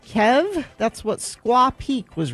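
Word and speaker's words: Kyhv: This person says, I believe it's pronounced Kev.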